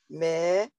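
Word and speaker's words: מלך: It's close, but one syllable is mail, like I'm going to put a letter in the mailbox. Mail. Male. So I'll do this the baby way. Male, because it's that long A, and then the K is a long A.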